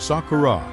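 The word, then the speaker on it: 桜: In Japanese, cherry blossom is pronounced Sakura.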